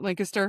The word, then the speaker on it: Lancaster: If you are ever in the Lancaster area, have to say it right, Lancaster.